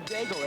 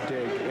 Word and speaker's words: Daigle: Her name is spelled that way, and of course most of the folks we deal with who are from Louisiana or the Cajun area would pronounce it Daigle, but not so up in the French.